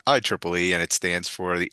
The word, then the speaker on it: IEEE: And so that's not IEEE. We pronounce it IEEE, and it stands for the Institute of Electrical and Electronics Engineers.